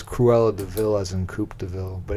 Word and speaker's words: De Vil: v i l yeah it's actually just devil and they pronounce it DeVille I thought it was